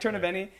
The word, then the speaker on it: Tornabene: um Bro Science um torob benni I'm pronouncing the last name right you got it okay torob benni or um I personally know you as